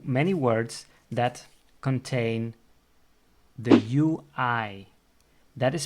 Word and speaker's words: ui: Onion in Dutch is ui. So how do you pronounce it? Well, probably you are able to say ah. So repeat with me, ah.